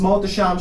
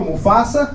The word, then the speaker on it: Mohtasham: same for that lady my name is mother sham she mispronounced but i knew what she meant she looked at a reservation and she goes like oh okay who's ready for mufasa mufasa i knew what she